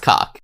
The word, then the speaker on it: Koch: That's cock, dude. That's cock. That word is pronounced cock.